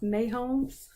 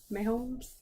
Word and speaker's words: Mahomes: It's pronounced Mahomes. Mahomes.